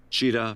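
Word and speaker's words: Chitat: Cheetah pronounced Cheetah and Ing pronounced Ing."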